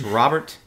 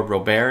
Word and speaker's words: Robert: three is lu bob luis robert or robert if you're me and mispronounced his name for months and months and months like he's french yeah yeah uh so